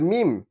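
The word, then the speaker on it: ميم: লি লু মিম তাহলে মিম মিম হচ্ছে দুই ঠোঁটের যে শুকনো অংশটা আছে এই অংশ থেকে দুই ঠোঁট দিয়ে উচ্চারণ করতে হয় মিম তাহলে মিম জবর মা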